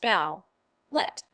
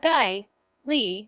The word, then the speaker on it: ballet: It's not pronounced bow, let, but bai, li, with emphasis on the second syllable.